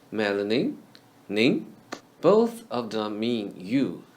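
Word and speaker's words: 您: And ning is the last syllable of the word melanin, read in the second tone. Melanin, ning.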